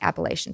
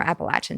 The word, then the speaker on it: Appalachia: I know in school they teach you Appalachia. It's not. It's Appalachia.